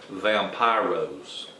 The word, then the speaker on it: Vampiros: You would pronounce it Vampiros, and they had a vampire,